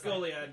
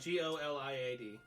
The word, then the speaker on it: Goliad: The G is silent. Oh, it's Goliad. G-O-L-I-A-D.